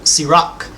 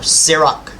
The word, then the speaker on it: Sirach: The book of Sirach, or Sirach. Potato. Okay, depend on how you want to pronounce it.